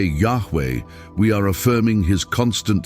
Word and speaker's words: Yahweh: When we say Yahweh, we are affirming His constant self-existent nature.